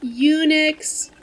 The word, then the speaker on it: Unix: That's Unix with a U sound. Come on. You studied abroad. You should know not to pronounce the alphabet like romanized Japanese.